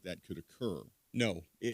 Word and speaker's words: Ngo: No, it's just no. I know it's spelled NGO. Is it no? It's just no.